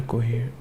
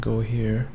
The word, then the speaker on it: Cohere: I want to look into Cohere. Cohere. Not go here.